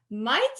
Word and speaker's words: Mayte: And we have Mayte.